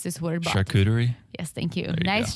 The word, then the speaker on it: charcuterie: okay nice like i don't know how to pronounce this word charcuterie yes thank you nice chicuteri and the bottle of rose all day with